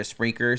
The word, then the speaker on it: Spreaker: And we migrated everything over to Spreaker so you could listen to us live via their app. Spreaker is spelled S-P-R-E-A-K-E-R.